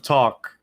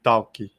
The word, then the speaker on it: talk: say instead of talk, for example, they say talkie. Ah, Yeah, they like to add the e at the end of everything.